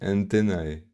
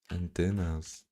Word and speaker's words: antennae: Not relevant at all, but the plural of antenna is really antennae. Are you kidding me? I've pronounced this antennas. It's not antennas?